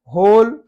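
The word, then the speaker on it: whole: होल, पूरा का पूरा, not half, होल, W silent है।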